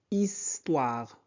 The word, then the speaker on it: histoire: L'histoire, comme je viens de dire, H ne se prononce pas. Donc on prononce I. Is. Histoire.